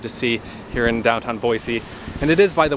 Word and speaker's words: Boise: or not they say boise instead of boy z with a z sound i'm not originally from